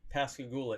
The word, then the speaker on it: Pascagoula: pascagoula thank you everybody pascagoula is the correct pronunciation of that nice little